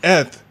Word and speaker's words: ETH: I've read a lot of stuff that everyone says that it is actually pronounced ETH, like teeth.